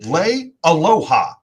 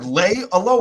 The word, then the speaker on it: Leialoha: I see it as Lay and Aloha. I was watching an interview with him. He pronounced it. He himself pronounced it Leialoha. Like that. Yeah. Steve Leialoha.